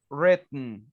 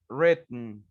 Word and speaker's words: written: the w is island don't pronounce the w written written students have already written